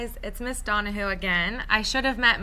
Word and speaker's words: Donehoo: session i am miss donohue it is pronounced donna who like you're asking a question the reason i bring